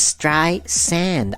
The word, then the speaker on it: Streisand: Barbara Streisand or actually Barbara gets quite cranky about the pronunciation of her surname it's stray sand I don't understand what's so complicated it's stray sand sand it's in the word Streisand alright so let's go